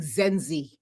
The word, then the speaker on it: Zenzi: okay my pet peeve my name is pronounced exactly as it's spelled zzi Z like all